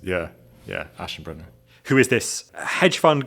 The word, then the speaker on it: Aschenbrenner: And it's this paper by this young wonderkind of the AI world called Leopold Aschenbrenner. Is that his name? Yeah, beautifully pronounced. Yeah, Aschenbrenner.